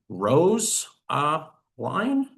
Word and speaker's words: Rosaline: I'm going to click annotate and I can write should be rose uh line and click annotate.